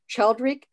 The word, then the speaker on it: Childeric: Jonathan is a 53rd generation descendant of, I hope I'm pronouncing this correct, Childeric, the first king of the Franks, who ruled from 458 to 481.